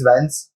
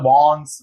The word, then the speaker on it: Vance: is my name is Vance and usually it's like I've given up after a period of time because people pronounce all different things they call bonds Vans Venice you know so one